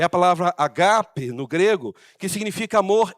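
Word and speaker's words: ἀγάπη: E é interessante que a palavra amor é a palavra agape no grego, que significa amor incondicional. Eu vejo muitas pessoas chamando amor ágape, mas a pronúncia o acento é no segundo A, agape.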